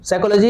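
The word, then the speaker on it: psychology: पी के बाद S जब रहता है, P साइलेंट रहता है। कोई दिक्कत? PSYCHO साइको हो गया। और जानते हैं सी के बाद H रहता है तो H भी साइलेंट होता है। साइको ऐसे होता है, SYCO साइको ना होता, लेकिन PSYCHO है साइको, साइकोलॉजी।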